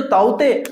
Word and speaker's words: Tauktae: ये जो ताउते अपन पढ़ते हैं, इसे ताउते कई जगह आप ताउते क्योंकि के साइलेंट होता है तो ताउते और ताउते ऐसे चलते हैं नाम।